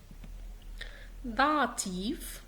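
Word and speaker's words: Dativ: داتيف أهو جاي في آخر الكلام لكن في.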